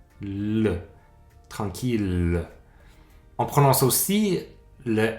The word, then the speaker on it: tranquille: va se prononcer hier sauf dans trois mots qu'on voit quand même souvent en français ville on prend ce l de cette fois-ci ville c'est une exception une autre mille comme million ou milliards troisième exception tranquille notez que en